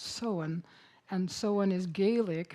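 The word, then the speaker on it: Samhain: And um and Halloween itself actually before um it was changed was called seen and it looks like Sam Hayne here but really is pronounced soen.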